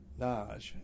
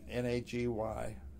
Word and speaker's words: Nagy: And our host, Naj, N-A-G-Y, is pronounced Naj over there, Nagy here.